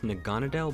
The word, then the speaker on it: Naganadel: a few months ago, and I believe you pronounce his name as Naganadel, but I'm not entirely sure.